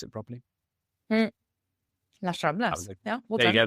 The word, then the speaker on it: Las Ramblas: It just has to make sure that the pinch points like Las Ramblas, go on, pronounce it properly. Las Ramblas.